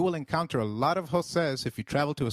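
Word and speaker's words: José: Jose is pronounced as Jose with a stress on e as it is accented almost sounding like the e i in eight the letter J sounds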